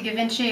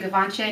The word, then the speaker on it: Givenchy: For mascara, I've gone back to Givenchy or Givenchy, depending how you pronounce it, and of course I always pronounce it wrong.